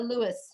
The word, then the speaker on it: Louis: or Jeffrey Jeffrey are we gonna go with Louis or Louie I don't know if his name has never pronounced Oh Louis if we're going to sighs much to stick